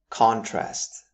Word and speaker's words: contrast: As you can see, the stress is on the first syllable. Contrast. Here we mean the noticeable difference or distinction between two or more things especially used in lighting and photography. For example, the contrast between the two photographs was striking. Contrast on the other hand, making the stress on the second syllable would give us the